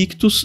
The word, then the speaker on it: Ichthus: Lembrando que Ictus se escreve I-C-H-T-H-U-S.